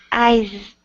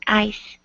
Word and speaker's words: eyes: You know when you pronounce the word eyes you have to make a Z sound otherwise it will sound like ice you know.